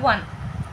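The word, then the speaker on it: won: উইনটাকে অনেকে ওন বলে, ওন না, উচ্চারণ হবে ওয়ান।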